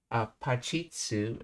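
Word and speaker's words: パチッ: And then pachitsu is how you pronounce that with a small su.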